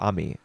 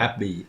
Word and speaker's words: Abby: contrast with Amy or Ami. I That's her name, right? Abby. Ami, Abby. Abby. Oh, I'm sorry. Abby. A Yeah, Yep. with a B.